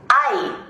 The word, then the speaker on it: Hay: Hay, pronounced like I, but spelled H-A-Y.